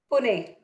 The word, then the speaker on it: Pune: Pune.